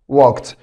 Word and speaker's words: walked: ولاحظ برضو بعد الكه ساوند الاي دي بتنطق تا walked walked.